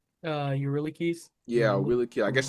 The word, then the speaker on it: Eurylochus: Eurylochus.